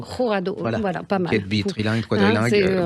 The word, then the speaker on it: Jurado: Donc je crois que le J, on dit Rourado. Rourado, voilà, pas mal.